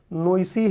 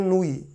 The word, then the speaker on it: Noyce: तो अब इंग्लिश का प्रोनाउंसिएशन है, हम लोगों को पढ़ना पड़े तो हम बोलेंगे कि नोइसी है, लेकिन किताबें उसका प्रोनाउंसिएशन करती हैं नूई।